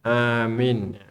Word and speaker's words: amin: Ya, amin. Bukan amin. Amin. Ya, bacanya amin.